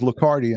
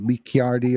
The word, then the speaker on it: Lacardi: about that you know my last name is lacardi and people always say lee chiardi or lichardi and i go listen